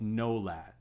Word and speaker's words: nolad: This is a principle called nolad, N-O-L-A-D, if you want to spell it out in English, nolad.